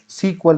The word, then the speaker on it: SQL: ध्यान रखना दोस्तों, एसक्यूएल को हम सीक्वल भी कहते हैं। क्या कहते हैं? सीक्वल भी कहते हैं। और ये क्वेश्चन एग्जाम में पूछा जा चुका है कि इसको किस नाम से प्रोनाउंस करते हैं, सीक्वल के नाम से।